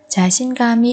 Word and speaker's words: 자신감이: 자신감이 있다. 자신감이 있다. 자신감이 있다. Ở đây chúng ta nối âm kam và y thành kami. Không tự tin. 자신감이 없다. 자신감이 없다.